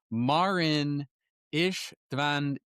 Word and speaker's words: Marin Istvanic: We have a legend on the podcast today, and I'm going to pronounce publicly his name properly, or attempt to. Marin Istvanic.